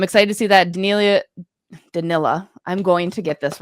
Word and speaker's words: Danila: So, in case you guys didn't know, it's Danilla, like vanilla. But for some reason, I like to add a little spice to it and always say Denilia. It's Danilla.